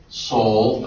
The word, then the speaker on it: sol: Do, re, mi, fa, sol, and notice it's S-O-L is how it's spelled.